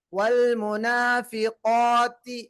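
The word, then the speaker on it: والمنافقات: இந்த காஃபு இதனுடைய வல்லினம் அதிகமாக இருக்கும். காஃபும் அதுக்கு அடுத்து வரக்கூடிய அல் அலிஃபுல் மத்தியாவுடைய உச்சரிப்பும் என்னவாக இருக்கும்? முஃபஹ்ஹமா. சொல்லுங்க. முஃபஹ்ஹமா. வல் முனாஃபிகாத்தி.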